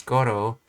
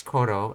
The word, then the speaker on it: 頃: Like, for example, if I understand it correctly, this kanji used after a noun is always pronounced as goro. You cannot say it as koro.